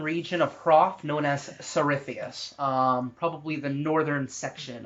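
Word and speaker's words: Tsarithius: um okay yes uh you're pretty sure you're in the southern region of Prof known as sarithius um probably the northern section of that region um which is spelled t-s-a-r itheus i-t-h-i-u-s um so you're pretty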